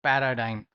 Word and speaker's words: paradigm: vocabulary also what is paradigm over here d is silent okay this is paradigm what is paradigm time is pattern or standard